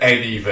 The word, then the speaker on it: Annieville: It's spelled Annieville, but everyone calls it anyville.